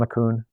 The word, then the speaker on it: LeCun: Jan LeCun, is that how you pronounce his name?